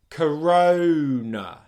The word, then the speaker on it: corona: The next syllable is nice and simple, n, n, n. So we've got the N sound, and then we're going straight into the schwa sound again. N, n, n. Corona, corona, corona. Okay? That's the first part of this word.